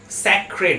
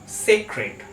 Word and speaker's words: sacred: আমরা এই ওয়ার্ডটাকে উচ্চারণ করে থাকি স্যাক্রেড বলে, বাট না, এই ওয়ার্ডটার ঠিক উচ্চারণ হলো সেক্রেড। সেক্রেড।